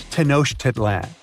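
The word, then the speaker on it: Tenochtitlan: Yes, it's quite difficult to say in English and above my pay grade. Okay. Okay. It's Tanosh Titlan.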